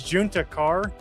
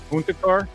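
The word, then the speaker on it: Juntakharr: But it was uh it was Juna Carr. Um which was a Star Wars name and you kept pronouncing it Hispanic because of Texas.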